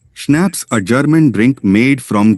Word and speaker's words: schnapps: that was the end of the matter schnapps pronounced schnapps a German drink made from grain cello a